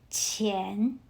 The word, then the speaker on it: 钱: Another example, the word money. In Pinyin, it spells as QIAN. So again, let's temporarily replace Q with CH. Then you will spell it as CHIAN, so you pronounce it as 钱.